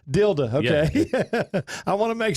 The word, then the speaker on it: Dilda: how do you say your last name correctly tilde tilde okay I want to make sure okay we